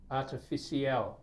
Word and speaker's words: artificial: We normally tend to break it down into 2 syllables.